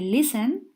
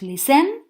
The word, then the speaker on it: listen: Porque listen no tiene acentuada la última sílaba. No decimos listen, como begin, sino que decimos listen.